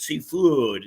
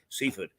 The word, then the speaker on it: Seaford: the French from Seaford, which is the way that locals pronounce it, Seafood, whereas most would say Seaford.